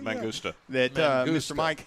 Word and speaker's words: Mangusta: Mangusta.